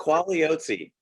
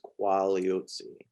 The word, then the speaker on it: Quagliozzi: pronounce your last name it's quality if you just silent g silent g sorry what is the diseases are there these are there so it's just quality this is why i